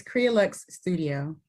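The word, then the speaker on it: Crealuxe Studio: Can you pronounce that for me? I can. It's Crealux Studio.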